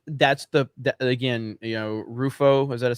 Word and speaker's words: Rufo: and that's what that's the again you know rufo is that a say how do you say his name christopher ruffo is that it yeah uh he has done